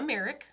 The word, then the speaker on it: Marek: Did I pronounce that correctly? Yes. Heck yes. I'm on it. We have Marek, right?